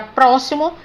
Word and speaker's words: próximo: selear sei ó e na palavra próximo grafado com x mais a pronúncia é se o próximo sons e temos a letra